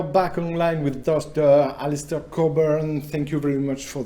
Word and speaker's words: Cockburn: That's the talk, and the final note just is, my last name is pronounced Cockburn. That's a silent CK, comes from Scotland.